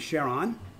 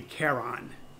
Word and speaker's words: Charon: could not connect and the correct pronunciation would be Karen but Jim Christy who